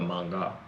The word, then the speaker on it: manga: to pronounce that word I've heard of manga not like mango but manga it's not gonna help